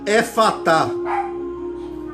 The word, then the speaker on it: efatá: É uma palavra aramaica que se pronuncia efatá.